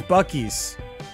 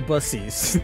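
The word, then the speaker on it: Buc-ee's: trip I over buses no not busies buckies Bucky's it's not pronounced bussies you have and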